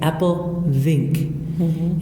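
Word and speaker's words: Appelvink: Apple is spelled A-P-P-E-L. Yeah. Okay. E-L. We would do it L-E, and then it's Vink as you hear it. V-I-N-K. Apple Vink is the name of the cider. Yeah.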